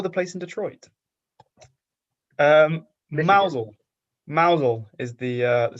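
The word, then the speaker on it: Mousehole: Wales uh or the place in Detroit um mousel mousel is the uh the settlement uh not pronounced mous hole it's pronounced mous but the definition is that's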